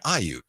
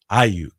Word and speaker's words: Aiyuk: Matt Mayoko called him Aiyuk. Aiyuk. Yeah. Like the emphasis on the front. Yeah. On the first, Aiyuk. The emphasis Brandon on the first Aiyuk. syllable.